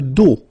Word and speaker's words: dos: Le dos, final S not pronounced, okay?